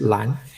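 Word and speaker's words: 覽: Pronounced as what? Lan, right? Is it lan? Okay, pronounced as lan, which means what?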